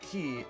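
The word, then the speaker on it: χ: wondering the x is pronounced key in reference to the Greek symbol Kai which is sometimes pronounced key the first title in this Saga first released back in 2013 with Kingdom Hearts key a Japan exclusive web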